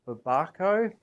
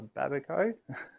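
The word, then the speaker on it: babaco: But they are called babbaco. That's how it's pronounced, but um in my flat Australian accent, I'll call them a babico.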